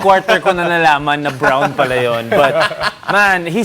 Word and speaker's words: Braun: Jamal Murray, Nikola Jokic, Braun, how you should say his last name, really showed Mikey out.